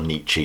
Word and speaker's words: Nietzsche: In a nutshell, Nietzsche, or Nietzsche, depends how you want to pronounce it, muses on the idea of a subsequent generation being far superior or replacing the generation of today.